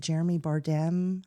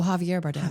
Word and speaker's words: Javier Bardem: Maybe the role that is it Jeremy Bardem? How do you say his name? Oh, Javier Bardem.